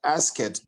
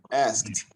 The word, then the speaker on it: asked: to correct something uh the pronunciation of ask okay uh ask it no asked okay find a way to combine the words together you can say asked okay ask it asked